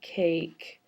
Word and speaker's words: cake: In fact, I do hear a long vowel sound, A, cake, with a silent E at the end.